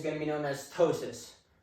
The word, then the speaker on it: ptosis: So the first one, no eyelid elevation is going to be known as ptosis. I know it's spelled P-T-O-S-I-S, but that's what it is, ptosis.